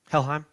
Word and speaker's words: Helheim: Helheim, how you pronounce Mhm. it? Helheim.